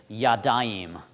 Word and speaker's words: yadayim: two hands i'd say yadayim so yad and then i'm going to add this ayim sound on the end yad i'm so that means two hands well this is sha